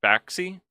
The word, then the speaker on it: Bakshi: Bakshi.